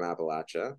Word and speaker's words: Appalachia: work in Philadelphia but coming back from Appalachia and that's how you pronounce it they taught me coming back from Appalachia